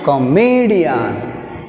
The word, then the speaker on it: comedian: Divide into syllables. An 1 d 2 me 3. Me d an 1 2 3. Third syllable ఏమొస్తుంది me. That's why we take a stress on the third syllable from the end.